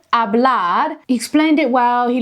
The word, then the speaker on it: hablar: Hablar is a great verb to practice. First, let's say it together slowly. Hablar. The H is silent, so it sounds like hablar, not hablar.